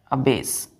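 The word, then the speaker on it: abash: जैसे कि मैंने कहा अ बेस अब बेस क्या है एक वर्ड है कितने लेटर है इसमें टूथ फर फ spelling A बी ए एस एच क्या बोलेंगे इसको अबेस इसको भी अबेस कहेंगे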